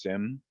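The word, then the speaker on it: SIEM: where you see this s-i-e-m pronounced sim acronym that is referring to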